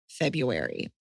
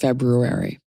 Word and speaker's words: February: So, we had had someone write in in 2024, February, uh cuz we had it's actually pronounced February.